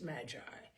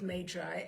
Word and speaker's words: Magi: know that these days the proper pronunciation is Magi but I grew up with matri and Magi it will remain so here we go Oh